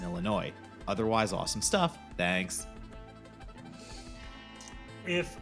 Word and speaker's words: Illinois: the Upper Midwest monagle please stop pronouncing the s in Illinois otherwise awesome stuff thanks